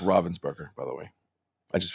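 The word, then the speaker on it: Ravensburger: Oh, but it's pronounced Robvensburgger, by the way. I just found that out this weekend. It is, but I still call it Ravensburgger and I'm you know, I guess cuz it's the city in Germany, right?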